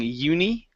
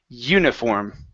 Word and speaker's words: uniform: have the word uniform so this I here instead of treating it like a long e saying uni it's going to be Yi uniform okay uniform mhm okay